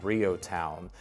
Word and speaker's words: REO Town: The next area in just Lancing proper that I want to highlight is Rio Town. It's spelled Reo Town, but we call it Rio Town.